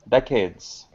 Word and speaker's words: decades: is decades de de decades yes correct so the emphasis is here on the first syllable um okay thank you